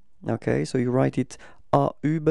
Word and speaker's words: au: Thing is not ending with as with France OK So it does mean that this countries masculine and the proposition you will have to use is o OK So you write it a then you pronounce